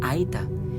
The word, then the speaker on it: Aeta: Aeta is pronounced as Aeta.